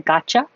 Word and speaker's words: gotcha: I understand um I gotcha the T in the Y next to each other make a cha and instead of ooh you you can say yeah cha so now I gotcha or just even really